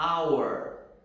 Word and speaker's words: hour: lugar é um som mudo ele não é pronunciado vamos ver algumas dessas exceções algumas das exceções são the hour e monor a hor e o nesse quem